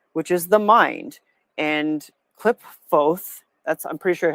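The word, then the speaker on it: Qliphoth: And Klipfoth, that's, I'm pretty sure how you say it, because you say like thoth, you say thoth, and ph, right, is a f in it.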